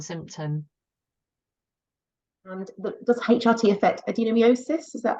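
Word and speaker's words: adenomyosis: a really distressing symptom and does HRT affect adenomiosis is that how you pronounce it oh adenomiosis yes thank adenomiosis yeah so adenomiosis is where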